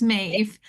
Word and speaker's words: Maeve: So my name is pronounced kind of like Dave, just with an M. So it's Maeve.